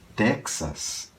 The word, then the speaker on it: Texas: de palavras Amer tá como por exemplo Texas esse X é pronunciado J é claro tem gente